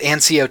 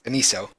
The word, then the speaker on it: aniso: I've always pronounced it ancio too, but it's aniso. I always thought it was ancio, but not. Nope, it's aniso. So I've been saying it wrong.